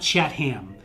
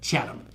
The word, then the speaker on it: Chatham: It's not Chatham. We're not talking any hams. We're Chatham.